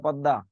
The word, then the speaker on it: পদ্মা: দন্তার শয় ন ফলা আকার দন্তন্য স্নান, প দয় ম ফলা আকার পদ্মা, কয় ল ফলা আকার তারিবস্য ক্লেশ, দন্তার শয় ব ফলা লয় পয় স্বল্প।